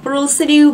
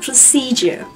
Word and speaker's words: procedure: Các bạn lưu ý là từ này là một từ có 3 âm tiết và trọng âm của nó rơi vào âm tiết thứ hai, cho nên các